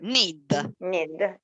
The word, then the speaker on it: knead: Knead. The K is silent. So need. Like the verb need, unfortunately.